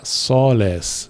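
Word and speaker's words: sōlēs: E aí vai ser preciso uma consulta no dicionário para ver que é soles, né, com O longo. De novo, é um plural da terceira declinação, então soles, o E também vai ser longo.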